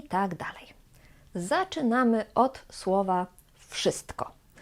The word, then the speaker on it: wszystko: Zaczynamy od słowa wszystko. Wszystko to znaczy albo everything, albo all. Ważna informacja jest taka, że tutaj wymawiamy w jak f. Wszystko. Wszystko. Nie mówimy w wszystko.